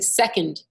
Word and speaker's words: second: So like if you're saying second, the accent is on the sec, not on the und.